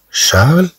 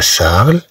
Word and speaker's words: Charles: Regardez sur l'image, on a Charles et Michel à la pêche. C'est-à-dire qu'ils vont à la pêche. Et d'un homme d'abou, il a assaid. Charles, CH se prononce ch, CH se prononce cha, Charles.